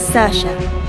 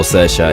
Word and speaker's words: Saoirse: My name is Saoirse. For those of you who have not heard of that name before, Saoirse, it's not a Welsh name, it's an Irish name. It's pronounced nothing like how it's spelt.